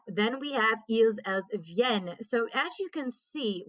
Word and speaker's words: viennent: Nous venons, vous venez, ils viennent, elles viennent. Okay, so we do pronounce those two N's there.